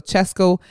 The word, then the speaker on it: Cesco: His artist name is spelled CESCO, so Chesco BLZ Blaze.